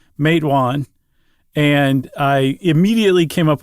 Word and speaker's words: Matewan: If you want to remember how to pronounce matewan, it's a small small town in southern West Virginia. Uhhuh. You just say, "Hey, who's that guy from West Virginia over there?" You say, "Who him?